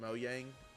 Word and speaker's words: Mojang: People at Mojang pronounce it Moyang. Oh, so they So it's if they pronounce it Mo Yang, then it's Moyang.